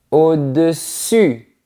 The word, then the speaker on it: au-dessus: Quand on parle de la partie supérieure, on dit au-dessus. La langue est en position avant. Elle touche les dents du bas au-dessus.